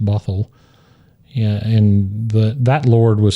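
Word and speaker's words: Bothwell: And uh she quickly married the Earl of Bothal, probably pronounced Bothl.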